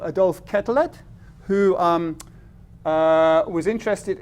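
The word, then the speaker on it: Quetelet: And one of the things he invented was the body mass index which is originally called the kettle index or kettle I guess I think it's French pronunciation.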